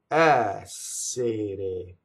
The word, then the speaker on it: essere: The ere conjugation is all closed E's, but the first syllable is open. Essere, essere.